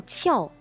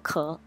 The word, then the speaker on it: 壳: 音，第一个读音读翘，地翘，脱翘，另外一个读音读壳，贝壳，鸡蛋壳。